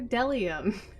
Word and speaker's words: bdellium: read b is for dellium i was reading a different book we doubt anyone knows what dellium is but it's the only it's the only word silly enough to begin with a silent b crazy c is for